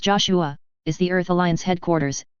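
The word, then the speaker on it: JOSH-A: Joa, pronounced Joshua, is the Earth Alliance headquarters and the final destination of the Archangel.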